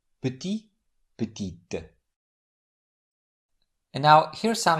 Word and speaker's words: petit: In the first word, the final T is silent puty, but it's pronounced in the derivative word put, which in this case is the feminine form of the adjective. What makes the final consonant pronounced is the vowel e added at the end. So the masculine form is put with silent t at the end and the feminine form is with pronounced ty petit.